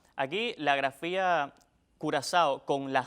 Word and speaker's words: Curazao: se pronuncia en español con Z o con S, en dependencia de la manera en que lo digan.